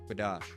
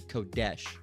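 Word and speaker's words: Qadash: You know, kadash is closer than kadesh. Okay. But it's quadash. All right. Quadash. All right. Not kadash, but you know, I won't say it's better because you're still mispronouncing it.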